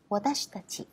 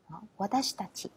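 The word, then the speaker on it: わたしたち: Watashitachi. Watashitachi tức là cái âm chi ở giữa nó sẽ hơi bị lướt đi một chút.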